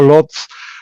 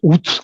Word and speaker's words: Łódź: no sé pronunciarlo bien, yo digo Lodz porque está en castellano escrito así, que es Utz, creo que es como Sí, tú, sí, sí, es como se Łódź. debería decir, exacto.